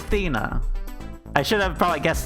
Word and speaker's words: Athena: monologue for one second would think faina this whole time it's thina damn it well now i know fina it's thena i should have probably